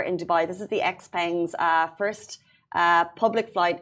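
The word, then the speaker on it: XPeng: Brian Goo, vice chairman and president of um how do you pronounce it? Xpang Xpang.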